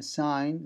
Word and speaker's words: sign: Then sign, there is no G. Then sign, the first one is sign.